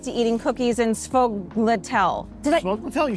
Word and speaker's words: sfogliatelle: Sfogliatelle, you said Did it right.